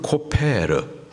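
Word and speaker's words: כֹּפֶר: 속전이라고 하면은 히브리식 발음으로는 코페르, 덮게라는 뜻이에요.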